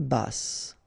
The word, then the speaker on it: basse: À taille basse. Okay, so basse. Final E not pronounced, but then you pronounce the double S, so S. Basse.